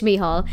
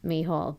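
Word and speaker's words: Mícheál: My name is Michael in Irish. It's Misha Mihal, but like you can't just say it's Mihal. That's just gibberish.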